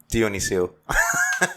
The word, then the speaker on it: Dionyssiou: Do you want me to spell it or say it? Say it. Say it'd be great. All right. Dionyssiou.